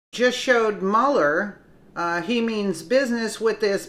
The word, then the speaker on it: Mueller: Actually, it is pronounced Mueller instead of Mueller, but I've been so used to saying Mueller because Mueller sounds like a mule.